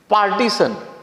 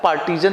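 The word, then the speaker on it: partisan: पार्टीशन, समर्थक। अच्छा, यहां पार्टीशन में बहुत सारे लोग सोच रहे होंगे कि पार्टीशन का क्या, पार्टीजन, इसको, इसका उच्चारण पार्टीजन करिएगा।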